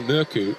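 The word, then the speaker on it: Mørkøv: It's been really intriguing hearing Michael Morkov, or Mikael Murku, and he says the Danish pronunciation, but he's more than happy to go with the anglicised version in the English language.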